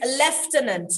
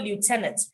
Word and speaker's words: lieutenant: go the british route it is lieutenant but i so love lieutenant lieutenant is american lieutenant is english there is no f in that word but somehow the british want us to call it lieutenant is i l-i-e-u-t-e-n-a-n-t lieutenant okay but bukola you use